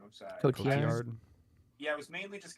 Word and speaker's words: Cotillard: put Marion Cotillard. I don't know how to say her name. I'm sorry. Cotillard? Cotillard.